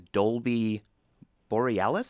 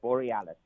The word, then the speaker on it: Dolby Borealis: sure i get this right your name is dolby borealis is that right borealis yes that's correct perfect pronunciation uh and i am very very excited